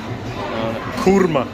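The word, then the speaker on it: korma: You know how they pronounce that? Kurma.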